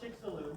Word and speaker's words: Chicxulub: Yeah, that's called Chicxulub. Chicxulub, not Mexulub. Okay, a Chicxulub is what I got to do to my car.